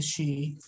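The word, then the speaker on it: sidhe: you are interested in in the she it's spelled s-i-d-h-e they're known more in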